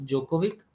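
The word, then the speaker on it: Djokovic: ND तो Novak जोकोविक, डी इसमें silent रहता है आपका, और कोको गॉफ CG।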